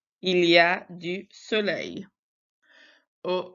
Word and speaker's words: soleil: And then soleil, we don't say that L. We say soleil.